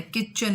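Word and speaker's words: kitchen: for example देखें school, तो school में एच साइलेंट है, डाउट में बी साइलेंट है, स्वोर्ड इसमें डब्ल्यू साइलेंट है, किचन इसमें टी साइलेंट है, नॉट इसमें के साइलेंट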